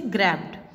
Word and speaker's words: grabbed: जैसे grabbed. Okay, ED से पहले क्या लिखा हुआ है? Double B. B is given here. Okay, so this word will considered as D sound.